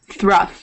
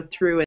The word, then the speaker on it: through: Thruff, yeah. Thruff. So obviously in through it's not the uff sound, so through is not thruff.